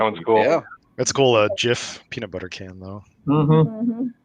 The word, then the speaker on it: Jif: Jif peanut butter can though. Mm-hmm. No relation. That's no. Not to be confused with a gift. Yeah. Yeah. It's not pronounced gift.